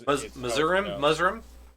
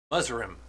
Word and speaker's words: Muzurim: Muzurim, I believe is Muzurim. There's an extra syllable in there. Muzurim.